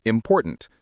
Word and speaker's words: important: For example, the word important. Stress the second syllable, important.